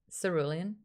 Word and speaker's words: cerulean: in the cerulean sea am i saying cerulean rider is it's not a hard c cerulean um let's get the